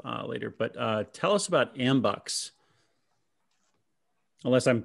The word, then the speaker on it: Ambucs: the other stuff later, but tell us about Ambucs. Unless I'm pronouncing that wrong, because I've only seen it spelled. No, you said it right. Ambucs, it's a nationwide organization, started in the 20s.